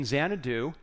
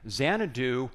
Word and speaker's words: Xanadu: in case you're wondering zanadu was the English way of pronouncing changu which was the place in China where KublaCon had this Palace so that's where we get the word zanadu very appropriate I think